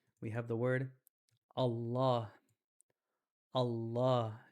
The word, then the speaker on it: Allah: Allah starts with an alif, so you actually say ah in the beginning.